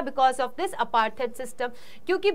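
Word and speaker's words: Mbeki: उनका नाम था थामो बेकी यहां एम जो है वो साइलेंट रहता है प्रोनंसिएशन का बहुत ध्यान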